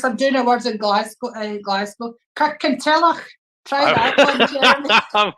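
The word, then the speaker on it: Kirkintilloch: Kirkentillach. Try that one, Jeremy. I'm glad you can pronounce Kirkentillach. I was like, Kirken what? Try it, go and say it. Kirkentillach.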